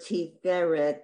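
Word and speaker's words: תפארת: Because you have the word tiferet, that's on the second syllable from the end, and panav, you know, like afar, not always the last one.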